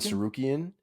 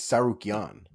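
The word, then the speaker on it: Tsarukyan: So I thought it was Arman Sarukian. It's Sarukian.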